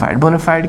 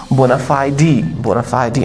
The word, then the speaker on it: bona fide: यहाँ पे बच्चा बोनाफाइड की दो प्रोनाउंसिएशन है, तो यूके यानी ब्रिटिश प्रोनाउंसिएशन जो है इसका है बोनाफाइडी and American pronunciation is बोनाफाइड।